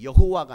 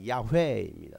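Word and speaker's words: 야훼: 읽었 아아 여호와라고 읽었습니다 그런데 더 정확히 말하면 더 정확히 발음하면 여호와가 아니라 야외입니다 따라합니다 야회 야 야회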